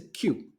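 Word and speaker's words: queue: I completely get it because the pronunciation of this word is just the same as the pronunciation of the first letter so this is a q all these people are standing in a q just the same as a pronunciation of its first letter A Q so these people are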